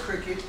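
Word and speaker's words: Cricut: Well, it's spelled C-R-I-C-U-T. Yeah. So they're pronouncing it cricket.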